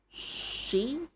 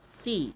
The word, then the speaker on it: she: She, not C. If you're talking about the girl, that girl, she, not C, she.